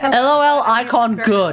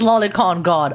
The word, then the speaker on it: Lolicon God: LOL icon good. Warframe Twitch channel. That's not even remotely the name, Megan. Say it right. It's Lolicon God, okay?